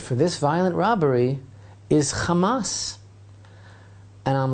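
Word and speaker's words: חמס: Now, the Hebrew word for this violent robbery is Hamas. And I'm like, this is really interesting, because everybody knows that Hamas, pronounced the same way, is in Arabic the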